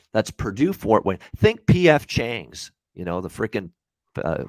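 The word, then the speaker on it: P.F. Chang's: purdue fort wayne think pf changs you know the freaking uh food chain in the united states when you're pronouncing it pf chang you know it's not ipf chang it's just pf chang yeah there you go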